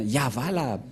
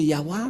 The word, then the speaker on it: Yahvah: Car dans le Sefer Torah, c'est bien Yahva la prononciation. Et on va prendre en photo. Car certains aussi disent que c'est Yahweh, mais pas Yahva.